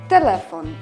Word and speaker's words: telefon: Tutaj mamy trzy sylaby i akcentujemy drugą sylabę z końca wyrazu. Telefon.